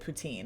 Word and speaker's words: poutine: You can tell that I'm not a poutine purist because I pronounce it poutine and not poutin. If I was pronouncing it properly, I would say poutine.